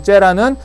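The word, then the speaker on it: זרע: 째라라고 읽는데요. 요 째라는 창세기 3장 15절에 하나님이 약속한 그 후손, 요게 씨예요.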